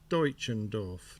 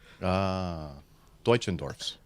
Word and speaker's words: Deutschendorf: So you think that's pronounced Deutschendorf, do you? Spell it again? Write it in the chat room for us. D-E-U. I'll write it in the chat. I think so, because Deutschland starts with D-E-U. Yeah, Deutschland, D-E-U.